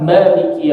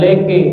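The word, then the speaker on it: مَالِكِ: Sekarang maliki yaumiddin. Ma tipis. Ma. Liki. Jangan leke. Ma leke, bukan leke. Liki. Maliki.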